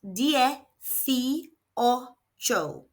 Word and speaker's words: dieciocho: It is pronounced D O. Let's look at the pronunciation. So, both letter I's make an E sound and the C is making a F sound because it's followed by an I.